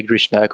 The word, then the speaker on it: Grishnak: cannot read your name grishnak is that how you say it h you can say grishnak or equal um